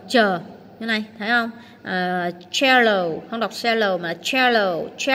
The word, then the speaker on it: cello: Rồi câu số cái cách thứ tư đó là chữ cờ đọc là chờ như này, thấy không? Cello không đọc cello mà cello.